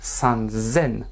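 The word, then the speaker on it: 三千: Sen. Non, sanzen. Sanzen. Attention à la prononciation.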